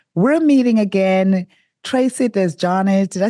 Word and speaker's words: Desjardins: Well, if you're in Canada, it's pronounced Desjardins. Okay. Desjardins. If you're in the United States, I often get Desjardins. So I'll take whatever.